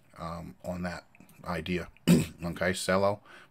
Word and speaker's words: Celo: on that idea okay sello pronounce cello okay means purpose in